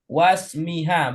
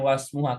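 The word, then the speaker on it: وَاسْمِهَا: Bu Suaibah cara bacanya wasmiha, bukan wasmuha. Kenapa? Karena ada atop.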